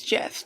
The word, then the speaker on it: GIF: going to be corrected it's it's Jeff that's how the the guy who created it pronounces it that way so that's how I'm